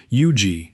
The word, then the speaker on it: Huger: Huger, one of the most prominent hugenot names in South Carolina history, is pronounced eugi with the French consonants dropped entirely.